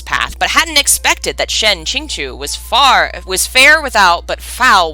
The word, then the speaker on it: Shen Qingqiu: Shen Qingqiu, I think is how it's said.